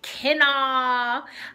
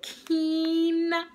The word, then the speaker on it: quinoa: don't be like me I used to say like Ken I'm going to make some Ken today don't do that that's not how you pronounce it it's quena um and quinoa is so good you